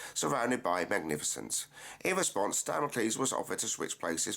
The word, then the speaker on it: Damocles: Firstly, it's pronounced Damocles, as in the sword of Damocles.